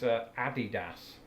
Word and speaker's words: Adidas: That's Adidas. You always bring me up on this. This is Adidas.